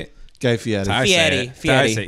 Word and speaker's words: Fieri: Guy Fieri. Fieri. He's Italian, so I say it. It's Fieri.